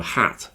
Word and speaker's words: hat: of wood Hut so hat when you say hat you have to smile more okay it's more tense in your cheeks and your tongue is touching your bottom teeth if you want to